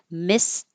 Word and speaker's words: missed: Missed the, you're not going to hear missed because you don't need to release the t noise and there's a TH after it.